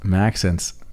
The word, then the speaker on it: Maxence: maxence there you go like Max and Essence together yes sort of interesting